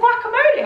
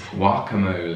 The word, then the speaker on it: guacamole: states and we're like can i get some guacamole on that please and they're like what it's guacamole yeah but this is weird